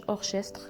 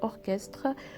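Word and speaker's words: orchestre: يوناني، بحال اوركستر جوق، ما كنقولوش اورشستر كنقولوا اوركستر. او كريستوف اسم واحد الشخص اللي كنقراوها كريستوف ماشي شريستوف.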